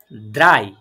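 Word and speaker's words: drei: three three কে আমরা number ডয়ে কি বলবো দ্রাই দ্রাই তারপরে number four number four four কে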